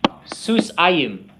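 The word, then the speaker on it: סוסיים: Susayim. Say it after me. Susayim. Susayim. The accent is here. So sometimes it's helpful to say what is it not. So it's not susayim. It's not susayim. It's susayim.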